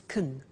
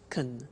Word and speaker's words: can: can speak spanish now notice the pronunciation of can becomes kun she can she can speak spanish he can play tennis we can speak german all right so can becomes con when we speak now